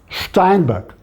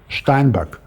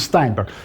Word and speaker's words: Steinberg: German name, it would be pronounced as Steinberg, of course with K at the end, not G, Steinberg. But American pronunciation is Steinberg.